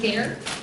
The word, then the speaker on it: ger: and murmured for his care rhymes with hair and this is the